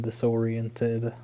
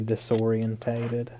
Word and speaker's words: disoriented: You'll be able to take down an assailant, leaving him disoriented momentarily. That's how you're supposed to pronounce the word. I always say disorientated. Putting on like 2 more syllables.